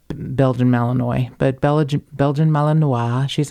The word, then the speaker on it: Malinois: in Vacaville prison, and she is a Belgian Malinois. Yes. Or Malinois if you're me, but a Pronounce Belgian it correctly.